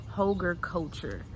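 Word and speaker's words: Hügelkultur: did some researching and I am pronouncing it incorrectly. It is hogar culture.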